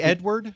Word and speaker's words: Edouard: And what is kind of funny, before I wrap up, you pronounce Edouard the same way that the Google team sheet is telling me it is spelt.